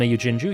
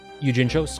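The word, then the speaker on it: Natsume Yuujinchou: Natsume from Natsume Yujinju, yep. Yujincho, excuse me, I mispronounced it.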